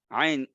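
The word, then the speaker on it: ع: আইন আপনি গলার মাঝখানে ধরে বাতাসটাকে বন্ধ রাখবেন, দেখবেন আ আ আনআমতা ইয়াকা না'বুদু। বাতাস না থাকলে আইন, একই জায়গা থেকে বাতাস বের হয়ে গেলে হা। হ্যাঁ, এক ভাই জিজ্ঞাসা করতেছেন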